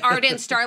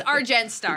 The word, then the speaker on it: Argent Star: always say it wrong I always say art and star like the star is like yeah but it's our gen Star as in silver right right so um